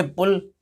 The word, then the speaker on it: pull: यहाँ पे यू दिया है, इस यू को हमने कौन सी मात्रा अर्थात कैसे प्रोनाउंस किया? छोटे आ से, हट। PULL ये पुल, पुल।